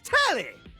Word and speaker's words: Telly: The name's Tally. rhymes with Nelly. Like, whoa, Nelly.